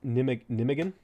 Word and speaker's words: Nijmegen: Nijmegen is pronounced Nijmegen.